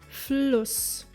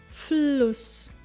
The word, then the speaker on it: Fluss: But if it were written with double S, the pronunciation would change, like in the very similar word Fluss. Fluss. Did you hear the difference in the vowel length?